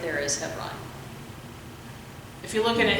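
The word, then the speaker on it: Hebron: you look at it it's h e b r o n is how it's spelled but it said heon yeah yeah we say heon but Israeli is with the be yeah so it's just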